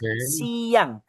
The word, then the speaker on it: siang: We pronounce it as siang.